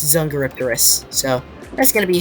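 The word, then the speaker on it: Dsungaripterus: I pronounce it Zungaripteryx, but it's Zungaripterus.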